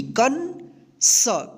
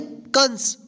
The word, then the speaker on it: कंस: तो ये जो है ना अन की मात्रा है, तो इसको पढ़ेंगे कन, क के ऊपर बिंदी, कन स, कंस। कनस नहीं पढ़ेंगे, क्या पढ़ेंगे? कंस।